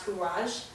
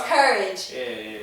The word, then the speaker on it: Kouraj: mother gave me so courage is my artist name it's actually creole um it's about kou k-o-u-r-h-a it's actually creole so it's properly pronounced courage so that's probably why